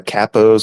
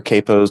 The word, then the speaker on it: capo: under that you've got five uh kappos or capos depending on your pronunciation and they kind of